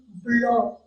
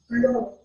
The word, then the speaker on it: blanc: So the masculine form will be blanc. Blanc. It is end with C, so C is not to be pronounced, and it's another sound.